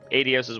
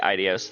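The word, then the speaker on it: Aidios: I would have liked to see you before I left, but I suppose this is Idios Addios's will. I keep wanting to say Idios. That's how I always pronounced it before I heard it here.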